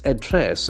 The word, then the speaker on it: address: Academy governor's address and the pronunciation is very interesting address it's address okay that is not a sound it's a address the accent for second syllable address the key address